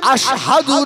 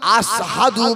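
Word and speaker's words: أشهد: ও বেলাল, হযরত বেলাল হাশিম আশহাদু না বলে আসহাদু বলে, শিনের উচ্চারণটা সিনের মতো করে।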